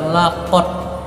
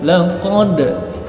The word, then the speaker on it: laqad: Bukan lakot, jangan lakot saja, tapi laqad, laqad, tapi khalaqa, ada sama aqqa pantulannya untuk dal.